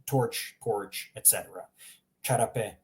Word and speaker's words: čarape: Just imagine a CH in English. So čarape, čizme, that hard ch sound.